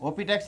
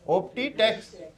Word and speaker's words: Optitex: आई टी e एक्स क्या बोलते हैं इसको ओटेक्स ओटेक्स नहीं बोलते हैं स्पेलिंग सही से पढ़ो ऑप्टीटेक्स ठीक है इसमें कौन